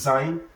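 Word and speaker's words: زاي: So this Zain now, it also has English equivalent. So the English equivalent of this Zain is what? Is we can say zebra.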